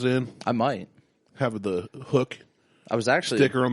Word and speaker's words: HUK: He's like, it's pronounced hook. I was like, then why didn't they just spell it with 2 O's?